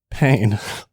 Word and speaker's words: Payne: me first and foremost through the spelling and pronunciation of your last name pain p a y n e all right you